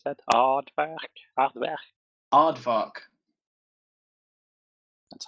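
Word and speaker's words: Aardvrk: Artvar. Arvar. Arvar. That's how it's spelled. A A R D V R K. Yeah, you're pretty close. It's pronounced oddvar in English at least.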